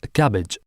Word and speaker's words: CABG: coronary artery bypass grafting or CABG pronounced as cabbage a surgical procedure in